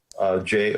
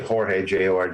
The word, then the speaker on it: Jorge: My name is spelled a little weird. Jorge, Jorge.